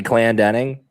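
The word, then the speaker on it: Clandening: Is Kathy Clandering Clan, how do you pronounce it? Kathy Clan Denning.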